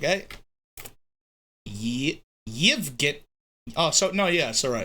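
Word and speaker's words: Евгений: Pronounce. How do you say it again? Evgeny? How do you say it? Evgeny. In Russian. Let's actually hear what it sounds like, eh? Yevgeny.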